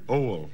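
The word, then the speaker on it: Oail: O-A-I-L. If you can pronounce it, you have it. Oil? Oil.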